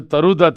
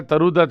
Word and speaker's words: Toru Dutt: अब बंगाली में इसको प्रोनाउंस इस तरह से करते हैं, अ के साउंड को ओ के साउंड से करते हैं, ओ, है ना। तो तरु को वो तारू कर देते हैं, तो तारुदत्त भी कह सकते हो बंगाली अगर प्रोनाउंसिएशन देखें तो। और अगर हिंदी प्रोनाउंसिएशन देखें तो तरुदत्त भी मामला बिल्कुल ठीक ठाक है।